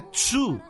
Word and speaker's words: Qu: O primeiro nome dele é Q-U, mas aí eu pronunciei Q, né? Mas o Q em chinês pronuncia Tz, então é Tzu, né?